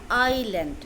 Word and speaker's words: island: উচ্চারণটা আইল্যান্ড, বানান ISLAND। এখানে এসের উচ্চারণটা সাইলেন্ট, এর উচ্চারণটা হচ্ছে আইল্যান্ড।